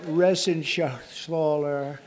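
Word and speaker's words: Reschenthaler: And Guy Resenshaw. You know that Resenshaw. That's actually the way you pronounce it, you know.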